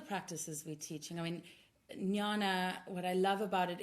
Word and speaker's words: jnana: how do you spell that how do you pronounce that yeah so Nana and we do bring that aspect of Nana